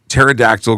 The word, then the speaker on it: pterodactyl: why can't you hear pterodactyl go to the bathroom because the p is silent yeah I like it